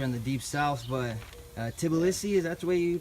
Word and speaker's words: Tbilisi: not the Georgia in the deep south, but Tbilisi, is that the way you pronounce it? Tbilisi, Georgia.